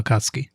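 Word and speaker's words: 紅月: Yeah, the U is kind of swallowed. Yeah. So it's almost like it's not there. Yeah. Right. So Akatsuki, yeah.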